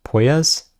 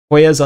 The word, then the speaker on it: Puelles: I always mess up how to pronounce this guy's name. It's, is it Puelles?